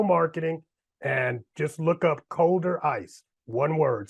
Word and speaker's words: ColderICE: Small business owners, all right, e-commerce, digital marketing, and just look up Colder Ice. One word, COLDERICE.